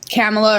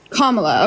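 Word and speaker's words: Kamala: I saw a comment so I'm voting for camela or I'm not entirely sure how to pronounce her name camela sorry kamla okay sorry um but I saw a comment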